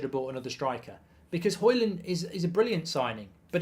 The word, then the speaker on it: Højlund: You don't pronounce the D, by the way. It's Højlund, not Højlund. It's Højlund.